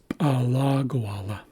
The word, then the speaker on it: alagawala: But in alagawala, the accent comes after the second syllable. So this LA. So that tells us we shift the accent to the second syllable. So it's alagawala.